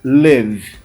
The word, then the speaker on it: live: Por exemplo, o verbo morar, live. O verbo have, ter. O verbo fechar, close. Veja a pronúncia deles, ó. Live, have, close. Eu não pronuncio o e.